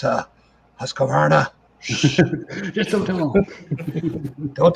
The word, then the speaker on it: Husqvarna: guess I should pronounce that right. Husqvarna.